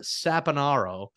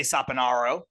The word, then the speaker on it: Saponaro: A lot of people say Saponaro, so that's fine, but I say Saponaro. I like Saponaro because I say orange and not orange, and I say Same.